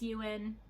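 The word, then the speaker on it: Eoin: the author's name is ewan colfer it is an irish author i believe and yeah it's spelled e-o-i-n i'm thinking it's you in i may be very wrong and i apologize to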